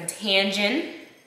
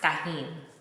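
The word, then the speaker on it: Tajín: margarita so we have agave we got some tangin I know it's pronounced tahin it's just it's just a little jokey joke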